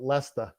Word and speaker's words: Leicester: Leicester. No, there's no R. No. Leicester. Leicester. You were close on your very first try. Leicester. It looks like Leicester, but it's called Leicester. Oh yeah, Leicester, because there's no R in that.